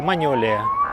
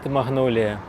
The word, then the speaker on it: магнолія: вид магнолії, цей вид назвали на честь французького ботаніка Маньоля. І спочатку її так і вимовляли: Маньолія. Але французьку люди не враховують. Звикли до англійської. І тому поступово почали називати не маньолія, а магнолія.